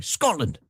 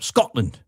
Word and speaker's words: Scotland: You even removed the tea so I can say it properly. Scotland. There's a glottle stop there. No tea. Just a glottle stop. Scotland.